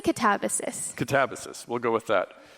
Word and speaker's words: Katabasis: I say Katabasis.